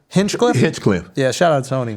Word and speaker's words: Hinchcliffe: Hinchcliffe.